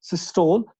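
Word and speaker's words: systole: इसको स्टोल कहते हैं, नहीं तो एक्चुअली सिस्टली है, और डायस्टोल को हम एक्चुअली कहते हैं डायस्टली। आज के बाद अगर आपको इसको अच्छी तरह से प्रोनाउंस करना है, क्योंकि बेटा हम टीचर्स भी आमतौर इसको सिस्टोल कहते हैं, डायस्टोल कहते हैं, स्टूडेंट्स भी कहते हैं।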